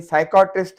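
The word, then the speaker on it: psychiatrist: साइकोट्रिस्ट है जो माहिर नफ्सियात डॉक्टर होता है, इसमें पी साइलेंट है।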